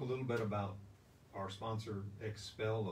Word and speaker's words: XPEL: bit about our sponsor expel of san antonio and that's x-p-e-l that's how it's spelled with an x at first and then p e l and they do automotive